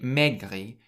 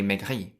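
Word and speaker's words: maigri: every word and so in megri you stress the last syllable rather than the first syllable so you don't say megri you say megri megri How would you say in French they have asked?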